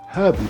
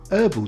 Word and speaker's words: herbal: Brits drink herbal tea and Americans prefer herbal tea.